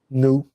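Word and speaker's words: nnọọ: me how you pronounce it how do you pronounce it new so the Evo word for hello is new and they call it a warm greeting I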